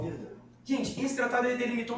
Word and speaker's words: Verdun: Se escreve Verdun, né? Mas para parecer que eu falo francês, tirar onda com vocês aqui que eu não falo nada, eu falo Verdun.